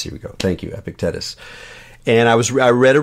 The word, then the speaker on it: Epictetus: epic deaths that's here we go Thank You epictetus and I was read a review and it